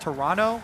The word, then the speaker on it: Toronto: actually by a tweet it's pronounced Toronto with no uh no T oh yeah today I learned Toronto maybe someone else you're